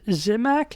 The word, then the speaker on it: Zimak: have a book author zimac is how you say your name that is correct Pete that zimac